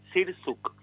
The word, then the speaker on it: Sirczuk: Se dice Sirsuk. Ah, bien, bien. Sí, no, porque la CZ, o sea, en realidad sería como una CH, pero acá en Argentina se dice como si fuera una S normal, Sirsuk.